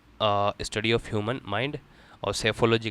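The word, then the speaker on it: psephology: पैियोग्राफी कहते हैं study of ancient writings और साइकोलॉजी कहते हैं study study of human mind और सेफोलॉजी कहते हैं इसमें पी साइलेंट है दोनों में।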